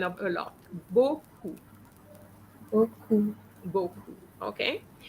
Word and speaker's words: beaucoup: Beaucoup. Beaucoup. Okay. EAU always gives you the sound O. So B and O gives you beau. Beaucoup. All right?